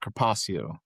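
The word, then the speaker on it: carpaccio: Uh you're going to you're going to want to pronounce that kpacio. Kacio.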